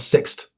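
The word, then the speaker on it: Sixt: first time ever that's rhymes with fixed it's called six okay so so yes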